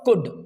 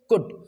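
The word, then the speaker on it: could: जैसे देखिए, the pronunciation is what? कुड। बहुत सारे लोग इसको कुल्ड पढ़ते हैं, बट the correct pronunciation is कुड।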